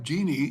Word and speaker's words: Jeannie: So it's pronounced like Jeannie in I Dream of Jeannie.